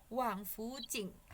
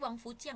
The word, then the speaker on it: 王府井: 老师yang Wang Xiaoyan yang terakhir itu yang Shuang itu artinya apa langsung Oh, bacanya? 老师salah lihat, Wang Fujing. Ini nama tempat. Salah. Maksud tadi Wang Fujiang ya bilangnya ya.